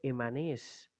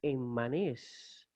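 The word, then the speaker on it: ἐμμανής: Luego, lo mismo hay que decir de la doble mi. Se recomienda leerla como la simple mi, como una sola, o separarla al dividirla en sílaba. Por ejemplo, la palabra emanés, que significa furioso, lo vamos a leer sencillamente emanés. Pero otra opción sería enmanés. Enmanés. Sería una opción, digamos, una segunda opción.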